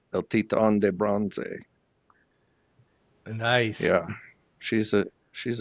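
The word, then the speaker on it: El Titán de Bronze: pronounce it she says when Americans call she says El Titan de bronze and when the Cubans call she says El TI on bronze nice yeah she's a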